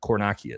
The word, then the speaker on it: Kornakia: Kornakia is how you say it.